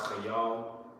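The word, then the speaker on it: חַיִל: So he said, saying not by might, okay, and that word might in the Hebrew is chayal. Okay? That word in the Hebrew is pronounced chayal.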